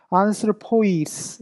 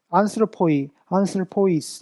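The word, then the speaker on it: ἀνθρώποις: 오이 같은 오이라도 앞에 거는 짧게 발음하고 뒤에는 길게 발음한다. 이런 식으로 보면 안슬포이스 이런 식으로 안슬포이스 이런 식으로 우리가 발음을 한다라고 보면 좋을 것 같습니다.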